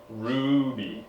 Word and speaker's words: RWBY: working for a mysterious millionaire we're watching rud Ruby Ruby ruo not it's not oo sound it's